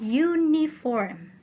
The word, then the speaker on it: uniform: A uniform. A uniform. Nah, uniform ini berawalan vokal U, tetapi membacanya U. Membacanya konsonan Y, huruf Y, Y.